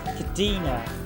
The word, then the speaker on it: Cadina: Famimi Cadina. Cadina. It's Cadina. Famimi Cadina.